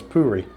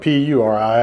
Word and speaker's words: puri: So in the future, if I ever get any of that, then I'll make sure that I pronounce it as puri. P-O-O-R-I. It's spelled P-U-R-I. I just assumed it was puri.